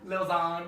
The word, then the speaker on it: Lil Xan: how do you say his name? Tomato. Little Xan. Lil Zon, yeah.